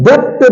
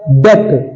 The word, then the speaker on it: debt: ठीक, अगला आता है हमारा बेटा, इसे हम डेप्थ नहीं पढ़ते हैं, इसे हम डेट पढ़ते हैं, डेप्थ नहीं पढ़ते हैं। तो ये हमारा जो डी है ये साइलेंट है, ये होता है डेट, DEBT डेट। इसमें बी कंप्लीटली साइलेंट होता है।